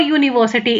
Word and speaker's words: university: U is a vowel, but still I'm using a because the sound it is making is yo whenever you pronounce it.